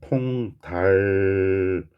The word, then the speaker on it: 통닭이야: 그래서 정확한 발음은 통달기야 겠네요.